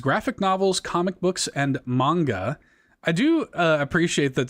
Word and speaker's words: manga: Which is pretty funny cuz I think Mitch at one point said like Magna or something like that.